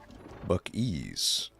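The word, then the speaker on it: Buc-ee's: Yeah, but I believe it's spelled B U CES. Buck ease.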